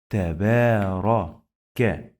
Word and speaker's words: تبارك: Pay attention, we have again the small alif here. So it works like long vowel alif. Taba, taba, taba, ra, ra. Tabara, tabara, tabaraka.